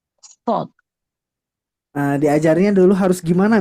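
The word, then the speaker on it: ص: Enggak enggak enggak sad sekarang shod.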